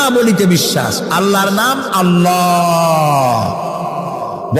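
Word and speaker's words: الله: বলিতে বিশ্বাস আল্লাহর নাম আল্লাহ বলেন তো আল্লাহ নয় কিন্তু আল্লাহ হচ্ছে অশুদ্ধ শুদ্ধ হচ্ছে আল্লাহ বলার সময় মুখটা গোল হয়ে যাবে বলেন তো সবাই উচ্চারণ করেন আল্লাহ আবার বলেন আল্লাহ আবার বলেন আল্লাহ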